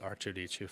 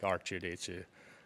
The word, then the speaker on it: Arttu: But, like, coming to here, people obviously pronounce it more like R2-D2. And back home, it's a little different.